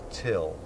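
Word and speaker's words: Thgil: he introduces himself as Till which he got off a light and fit Cartman brilliant brilliant writing till it spelled T H GI l but it's pronounced till why is Breen spinning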